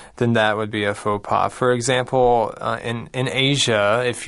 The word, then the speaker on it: faux pas: Okay, faux pas, not fox pass, but faux pas. F-A-U-X is actually pronounced faux, and P-A-S has a silent S.